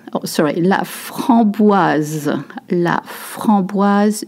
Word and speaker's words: framboise: La framboise, you notice there is a Z sound, okay? La framboise, S makes a Z sound.